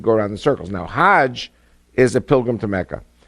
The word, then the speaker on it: Hajj: Now, Hajj is a pilgrim to Mecca. Hagg is the Egyptian pronunciation.